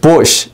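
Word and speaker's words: בוש: So I did some Hebrew word study about ashamed Like bush. It's pronounced like a bush.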